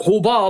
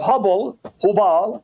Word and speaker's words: Hubal: And that there was an idol of Hubal, and that Muhammad's grandfather, he would go to that idol, that statue of Hubal or Hubal, some pronounce it Hubble, and as he's praying